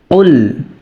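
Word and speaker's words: قُلْ: রাহিম কফ লাম পেশ কুল হামজা জবর আ উল আ কফ টা মোটা হরফ সেই ভাবে উচ্চারণ করতে হবে লামে সাকিন আছে লামটাকে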